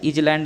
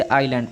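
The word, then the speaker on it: island: पढ़ेंगे, इसको क्या है, इजलैंड मत पढ़िएगा। कोई इजलैंड अगर पढ़े तो इजलैंड आपका गलत माना जाएगा, ठीक। इसे आइलैंड पढ़ेंगे, क्या पढ़ेंगे फ्रेंड इसमें, आइलैंड, ठीक। यहाँ पर एस जो है आपका साइलेंट है, ठीक है, ये आपका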